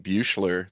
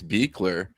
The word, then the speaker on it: Beekler: Nerd Rodic himself, Gary Beekler, which I just learned the other day how to pronounce his last name. I've been saying Buchler this whole time, but it's Beckler, which is very German, I think.